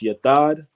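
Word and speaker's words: יָתֵד: So that word stake in the Hebrew is pronounced yatad.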